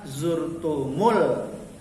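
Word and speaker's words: زرتم: Lamnya ini hukum bacanya apa? Tarkik. Tarkik artinya tipis. Apa tafkhim? Ya, tarkik. Tipis. Kenapa? Lamnya bukan terdapat pada kata Allah. Ayat 2 tidak ada kata Allah. Maka lamnya zurtumul, lamnya dibaca tipis atau lam tarkik.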